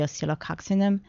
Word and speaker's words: Oscillococcinum: day, and along with our flu medicine, the oscillococcinum. How do you pronounce that again?